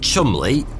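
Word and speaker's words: Cholmondeley: intelligence officers Charles Chumley, yes, weirdly that is how you pronounce that, and Euan Montigue were tasked with overcoming those little challenges.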